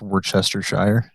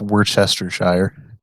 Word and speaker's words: Worcestershire: I mean, he's more in the wrong because it's actually pronounced Worcestershire.